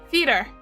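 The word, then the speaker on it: Feater: I say feeder, not feeder.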